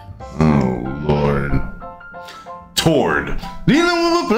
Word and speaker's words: Tord: Is it like turd, but with an O? Kind of. Oh, Lord. Tord.